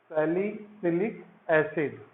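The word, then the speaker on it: salicylic acid: जरा स्पेलिंग ठीक से लिखना है और बोलना भी ठीक से है ना। सैलिसिलिक एसिड, ऐसा नहीं CaSaLi, ये क्या होता है, और ये CyLic, अलग अलग नहीं बोलना है, सालिसाइक्लिक नहीं बोलना है वो, है ना।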